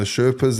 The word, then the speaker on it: Sherpa: I've heard of people that go to base camp and the Sherpas, they become friends with these Sherpas.